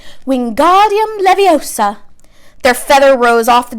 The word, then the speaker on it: Wingardium Leviosa: having much more luck Wingardium Leviosa he shouted waving his long arms like a windmill you're saying it wrong Harry hurt Hermione snap its Wingardium Leviosa makes a gah nice